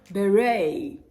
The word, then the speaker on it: beret: words ballet crochet sachet beret you see the t ends all of these words but it is silent absolutely dead so deaden